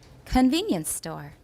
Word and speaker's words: convenience store: If we have a noun that modifies another noun, the second noun that is modified is not stressed. That's the rule. Therefore, what else do we circle here? Nothing. Convenience store. Convenience store. Nothing else is circled. Veen is the only stress that we have in this compound.